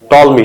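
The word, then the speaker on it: Ptolemy: ठीक है, टॉलमी, टॉलमी, PTOLMY। ठीक है, पी साइलेंट है।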